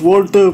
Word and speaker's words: WALTR2: It's pronounced Walter, but it's spelled WALTR2.